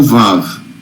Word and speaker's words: Vav: Essa letra em cima é o Vav, tá? Parece um 9. Vav, em árabe, se escreve V-A-V, tá?